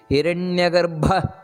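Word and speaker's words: ಹಿರಣ್ಯಗರ್ಭ: ನಾವು ಹೇಳಬೇಕಾದದ್ದು ಅದೇ ರೀತಿ ಹಿರಣ್ಯ ಗರ್ಭ ನೋಡಿ ಭಾ ಅನ್ನೋದು ಮಹಾಪ್ರಾಣ ಹಿರಣ್ಯ ಗರ್ಭ ಅದೇ ರೀತಿ ಶತ್ರುಘ್ನೋ ಶತ್ರುಘ್ನೋ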